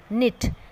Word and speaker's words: knit: जैसे कि knit, knit में K silent है तो उसे कलर किया गया है.